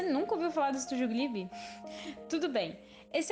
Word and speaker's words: Ghibli: Ghibli, ou Ghibli, na pronúncia japonesa, é uma palavra derivada do árabe.